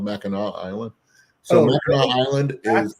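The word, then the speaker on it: Mackinac Island: spell spelling it's called ma Island so ma island is how come you don't pronounce the C I don't know ask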